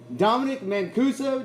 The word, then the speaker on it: Dominic Mancuso: We have Dominic Mancuso.